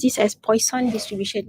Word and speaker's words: Poisson: is poisson distribution so this is actually a french word so if you want to pronounce this french way it's actually poisson distribution